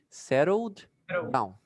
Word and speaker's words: settled down: What happens here is interesting because we have double D here, right? D and D. Settled down. So you pronounce one long D.